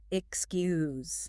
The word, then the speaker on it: excuse: You have to move from a K sound to an S sound. Excuse. Excuse. You really have to practice that transition.